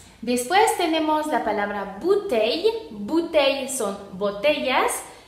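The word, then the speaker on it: bouteilles: sería I, entonces sería bouteille, y la S final no se pronuncia, la E tampoco, entonces sería bouteille.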